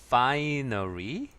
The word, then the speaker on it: finery: 같아요 파 좋다란 뜻이잖아요 파리 발음은 강세는 앞에 있고요 서파리 기본적으로 불사한 명인데 아주